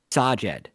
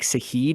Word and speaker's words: Sajed: So Sajed is how you say it. Okay. But I had been like Sahid in my head, and Kangas was nailing it.